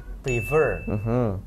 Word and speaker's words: prefer: Itu harusnya prefer. Prefer. Naiknya di belakang ya, prefer.